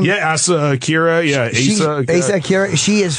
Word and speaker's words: Asa Akira: You know Asa Akira, I think you say her name? Yeah, Asa Akira.